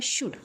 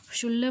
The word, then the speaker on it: should: तर ते आहे बघा शुड काय आहे शुड शुल म्हणायचं नाही काय आहे बघा शड प्रोनन्सिएशन येत शड आणि शुड म्हणजेच काय